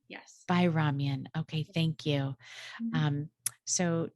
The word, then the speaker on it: Bayramyan: Please welcome Bayramyan. I hope I'm pronouncing that correctly. Thank you for having me on, Bayramyan. Yes. Bayramyan.